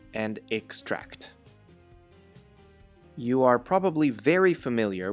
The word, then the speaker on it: extract: The following 3 words have the same suffix tract: attract, extract, and distract.